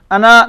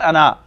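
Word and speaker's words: أنا: Ana, nahnu. Ana, nahnu. Ana, nahnu. Not ana. I hear one voice is ana. Ana. Ana. Ana. It's written ana, but to be pronounced ana.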